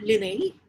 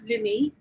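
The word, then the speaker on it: Linnaeus: actually introduced by carl linney so the one that you can see in the photograph that's carlini carl linney but uh it is spelled like this carly nay is the father of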